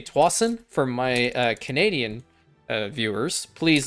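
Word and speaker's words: Tsawwassen: Years ago, we went to, I think it's Swassen. That's how they say it, Swassen. I've also heard it say Twassen for my Canadian viewers.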